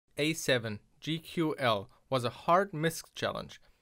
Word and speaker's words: GQL: When I first read the title, I mispronounced it as GQ. So a more German pronunciation, and I totally didn't get what it tried to hint at.